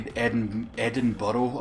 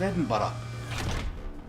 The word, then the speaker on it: Edinburgh: are bad enough like when i hear someone say edinboro i'm like no it's edinburgh don't remember one of